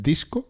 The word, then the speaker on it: DiSCo: program No sí disco Así como se escribe es disco sí es un acrónimo